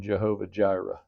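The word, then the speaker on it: Jehovah Jireh: heard of the name Jehovah Gyra? Okay, that's how we've pronounced it because the J uh the the yod the y the y in Hebrew through German has come into English and well Latin to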